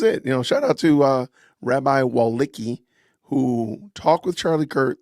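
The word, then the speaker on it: Wolicki: His name is, I don't know how to pronounce this. P-E-S-A-C-H W-O-L-I-C-K-I, Walicki.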